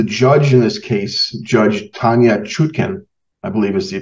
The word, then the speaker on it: Tanya Chutkan: Now, the judge in this case, Judge Tanya Chutkan, I believe is the pronunciation, and President Obama appointee, and the judge